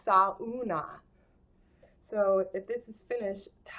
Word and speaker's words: sauna: So this one's called, if it's Finland, in Finnish you say every syllable. So sauna is sauna.